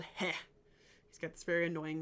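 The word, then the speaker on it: Heh: There's this god called He. He's got this very annoying name that is very stupid for me to pronounce, but there's this god named He.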